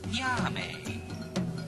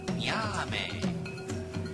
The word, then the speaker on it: Nyame: And the sky god, his name sounds like music, Nyame. You say it now, Nyame.